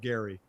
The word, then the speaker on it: Gerry: My biggest question is his name is spelled Gerry. Why is he called Gary?